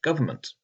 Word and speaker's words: government: For example, the word government is spelt with 2 N's, but most English speakers don't pronounce the first one, saying government.